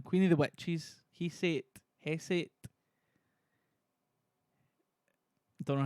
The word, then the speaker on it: Hecate: Hecate.